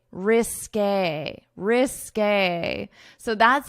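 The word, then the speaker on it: risqué: So we pronounce it according to French pronunciation rules, which is when you have this accent to pronounce it as a risk a risk a risk a so that's how you pronounce it.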